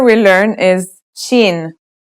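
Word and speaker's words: شين: letter we learn is chin this one is pronounced just like the English in the word shovel this one is very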